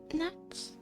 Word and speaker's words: gnat: Also, I got bit by a lot of gnats, I think they're called.